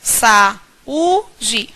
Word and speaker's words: saúde: separo saúde nós teremos saúde quando eu pronuncio saúde nós identificamos a sílaba tônica saúde nós conseguimos perceber